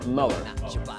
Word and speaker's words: Muller: Muller? Muller. Not Miller like Bill Miller, but it's spelled the same.